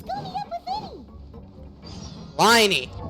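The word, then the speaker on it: Lyney: meet up with Linny liny same as whiny it's ly pronounced whiny level 45 on NAIA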